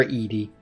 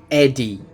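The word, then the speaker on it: ED-E: from the start, obviously, you've got to repair Edy. Ed Eddie. Sorry, I always call him Ed. I My brain said, "Oh, his name's Ed." No, it's not. That would be E-de. It's Ed D- E. It's Eddie.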